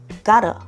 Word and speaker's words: got a: got에서 T 발음은 약간 날라가 L로 소리가 나고 A랑 붙어서 gotta.